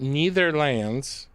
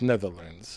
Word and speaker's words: Netherlands: And from being from Netherlands. So uh uh don't don't forget that neither lands is neither here neither there. So when you hear me saying wrong, I know it's Netherlands.